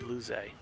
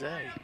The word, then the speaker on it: Loze: Hope I'm pronouncing his name correctly. Luze. I'm gonna go with Luze. So Luze leads off the 7th inning with number 50, Ben Loze. Loze. So Loze. I didn't have it right either. Pronunciation.